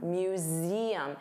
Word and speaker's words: museum: So notice you have that voiced Z sound, museum. And there are 3 sounds, museum, museum, museum.